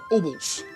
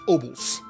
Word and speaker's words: obols: Gained at altars that can be found scattered between the islands, activated by coins called obols. They don't pronounce it. I think it's obols. Obols.